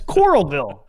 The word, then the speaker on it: Coralville: It's Coralville. It's Coral and then Vville.